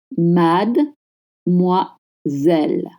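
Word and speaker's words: mademoiselle: Please don't pronounce the D. It's mad misel. Mad mazel misel.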